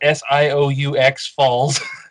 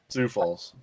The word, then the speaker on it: Sioux Falls: Geez, I feel like an idiot that I can't pronounce. It's Sioux Falls. Sioux Falls.